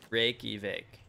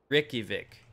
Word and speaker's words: Reykjavik: Reykjavik. Reykjavik. Reykjavik. Like Rick. Rick-a-vic.